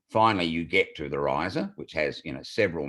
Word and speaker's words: Rizer: you get to the riser which has you know several meanings but one of them is when you use fertilizer you know your wheat your barley rises it grows but also rhymes with fertilizer so we had that